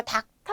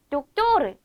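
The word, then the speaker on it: doctor: 그래서 의사 박살의 뜻합니다 이거 닥터 아니죠 뭐라고 읽어야 될까요 독도 독토르 이렇게 읽어 주면 되는 거고요 자 식당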